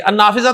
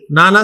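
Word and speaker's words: النافذة: अन्नाफिज़ा तो प्रोनाउंस सही करें, नाना सही नहीं है, मुग़लक़ातुन, अन्नाफिज़ा तो मुग़लक़ातुन।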